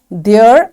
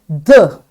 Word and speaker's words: the: There are two ways to pronounce the. One pronunciation sounds like the, and the other sounds like the. Okay, so what is the difference? The pronunciation of word the depends on the first sound of the word that comes after it.